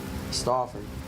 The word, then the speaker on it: Stauffer: That's how they pronounce it. Stauffer.